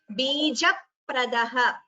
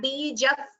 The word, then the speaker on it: बीजप्रदः: It is Bijapradaha. So this is a Dvitvam here. It is not Bijap. There is no Visarga there.